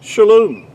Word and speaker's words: shalom: It's pronounced, really, to be more accurately, would be shalom.